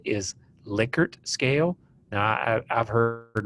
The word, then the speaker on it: Likert: There's a statement in your book that the correct pronunciation is Likert scale. Now, I've heard Likert my entire life, so it's hard for me